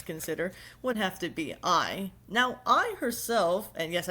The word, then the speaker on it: Ai: would have to be I. Now, I herself, and yes, I do realize her name is spelled AI, artificial intelligence.